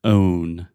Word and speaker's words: own: Okay, another one that we have 2 times, and this is a word you always pronounce incorrectly. The word own. Oh my God, that's true. You say on. Own. Okay, so say oh. Own.